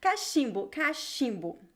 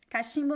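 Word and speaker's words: cachimbo: comes from african origin ka shimbu so be careful with the pronunciation with the ch in portuguese the ch is always pronounced as sh it is written with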